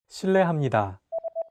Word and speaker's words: 실례합니다: R and an L, don't pronounce it like an English R. Listen to how J is pronouncing this sound. L. It sounds like a mixture between an R and an L sound.